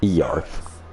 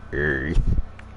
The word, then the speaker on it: Earth: I think it's called Yarth. Actually, it's pronounced Earth.